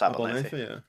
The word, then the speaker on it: Abernethy: I'm pretty sure that is pronounced Abernethy.